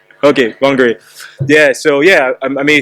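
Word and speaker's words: Whangārei: Whangarei, it took me a long time to pronounce this, the Whangarei, but now I can say Whangarei. Or am I saying it right? Okay, Whangarei.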